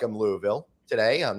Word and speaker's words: Louisville: Louisville. You got to kind of like have a little marble mouth.